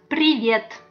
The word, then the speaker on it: привет: It's pronounced like привет. Very easy, right? Good. Привет.